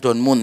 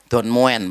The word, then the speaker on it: Don Moen: Worship leader terkenal bernama Don moen bukan donmun ya Don moen bacanya karena dia bukan anaknya